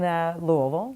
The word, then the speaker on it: Louisville: I was born and raised in Louisville, Kentucky. Most people don't know how to pronounce that, but that's how you do it when you're from there.